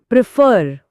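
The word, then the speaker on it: prefer: हाँ, जोर पहले सिलेबल एक् पर है, लेकिन प्रेफर में जोर दूसरे सिलेबल फर पर है। प्रेफर।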